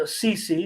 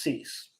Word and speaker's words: CeCe: cease and that's uh CC not pronounced cease it's good to have